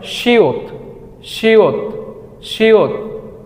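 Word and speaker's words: 시옷: দেখতে তাই না ওকে এটাকে করি আমরা বলে শিয়ত শিয়ত শিয়ত এটার মূল উচ্চারণ স তারপর আমরা যেটা দেখতে পাচ্ছি হুবহু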